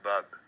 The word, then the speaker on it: Bob: It's not Bob, it's Bub.